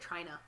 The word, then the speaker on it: Tryna: Because they said Trina. Oh, Trina! Which, funny enough, is spelled Tryna.